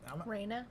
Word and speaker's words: Raina: Raina.